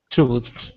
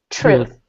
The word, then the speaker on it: truth: So you want to imagine that you're biting your own tongue.